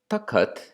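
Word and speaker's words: takhat: or it's at taccot taccot is an early hindi pronunciation of the noun tucked a throne or a cushion and you'll recall another rule that Snell mentions in his introduction that in early Hindi junked consonants two or more consonants together tend to get split apart and so we see that here that tucked becomes the cut the cut and the DA are separated and also the hub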